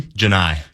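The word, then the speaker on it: Johni: so how do you say broom's first name Janai yeah I'm pulling for Auburn because Janai broom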